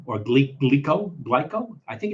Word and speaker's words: Glico: oh okay uh the company is called uh glyco or GLE glyco glyco I think it's glyco GLI uh these are